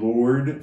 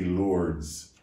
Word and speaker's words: Lourdes: happened in france in lord france we say lords but it's really lord france l-o-u-r-d-e-s and the s is silent this apparition that happened